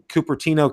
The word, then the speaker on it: Cupertino: And, they got smart here in the States, because now not only in Cupertino, California, which Steve Carpenter told me I pronounced right.